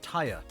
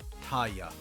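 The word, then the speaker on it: Tarja: them pronounce it as Taya, almost like the R is silent. I always heard them pronounce it Tarya, like the J is a Y, like Norse stuff or Hispanic stuff.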